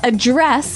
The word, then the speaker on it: address: differently so the verb address has the the stress on the second syllable okay address yes and